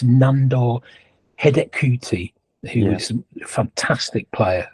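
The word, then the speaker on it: Nándor Hidegkuti: Their centre forward, and I'll try and get the pronunciation of this right, it's Nandor Hedekuti, who was a fantastic player at the time.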